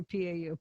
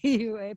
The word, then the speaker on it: PUA: I always say PAU. PUA, Pandemic Unemployment Assistance checks. Poor. It's poor. Now last month we had the highest monthly deficit ever. It's poor. PUA. Pandemic unemployment assistance. PUA.